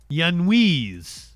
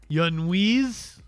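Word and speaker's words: Giannoulias: Torchy can give me a fanatical pronunciation. Gianuas. Gianuas. It is a Greek name apparently. Yanise. Yanwise. Yanwise.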